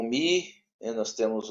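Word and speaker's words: μῦ: outro ele é o mi O Mi Ele tem ele tá escrito mu mas é Mi né É mi isso é Mi tá é porque o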